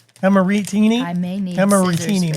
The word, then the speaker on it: Amarettini: I know they do the second syllable is how you really belt it out. Amarettini.